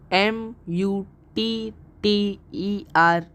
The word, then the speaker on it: Mutter: d is male friend in German and his pronunciation is friend friend M u TT e R is mother in German and it's pronunciation is